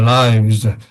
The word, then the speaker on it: lives: Loads of people have lost their lives，have lost their lives。